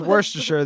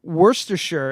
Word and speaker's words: Worcestershire: the lip yeah it Worcestershire is just pronounced like War Chester I know yeah you